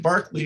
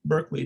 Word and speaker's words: Berkeley: What George Berkeley, or Berkeley, depending on which continent or side of the Atlantic you're on, gave us was this idea that there are two things which are known to exist.